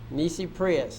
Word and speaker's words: nisi prius: That's spelled N-I-S-I. And the next word is prius. P-R-I-U-S. Nisi prius.